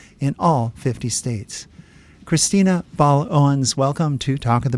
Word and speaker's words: Baal-Owens: all 50 states Christina B Owens welcome to talk of the bay thanks Len for having me and am I pronouncing your last name correctly yes you are actually that's uh gold